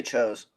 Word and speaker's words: Tso: So, Ken, So, Todd, Oh, I say chose.